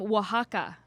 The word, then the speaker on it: Oaxaca: From Oaxaca. Are you impressed that I knew Is how that to how you pronounce pronounce that?